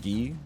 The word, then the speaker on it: Guy: I would have gone for them okay it's pronounced ghee okay well then you get minus to me